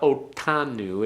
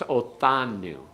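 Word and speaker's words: אֹתָנוּ: don't make it too don't make it a real hard one it's not otanu it's othanu it's like a th as in uh thing yeah as in thing as opposed to that it's thing it's a hard th okay otanu everyone all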